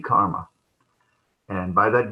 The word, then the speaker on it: karma: fruits of our karma in bengali they say karma not always but just to make it poetic you can add a syllable instead of karma karama karma the fruits of